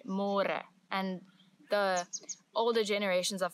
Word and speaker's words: môre: It's a little bit easier, but you have to remember to read more, because in English it's spelled like more. So don't say more, say more.